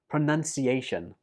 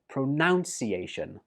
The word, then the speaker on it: pronunciation: I hear many students, and actually some native speakers too, saying this word like pronunciation. But that's wrong. The second syllable in this word is none, not noun. So it goes like this: pronunciation.